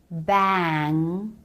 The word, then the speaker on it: bang: the ng nasal consonant when the a vowel is followed by ng it's no longer the pur a vowel but something more like the diphthong a so it's not bad bang but BAE a bang jaw drops at the beginning bang then comes up as the back of the tongue reaches up for the soft palate bang bang - revue